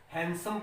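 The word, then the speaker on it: handsome: इसके अलावा और भी जो वर्ड है जिनको लोग अक्सर गलत पढ़ते हैं, ये हैंडसम नहीं है, यहाँ डी साइलेंट है, इसको हम हैंडसम पढ़ेंगे।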